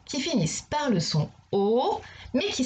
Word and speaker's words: au: Il s'écrit AU, mais il se prononce O.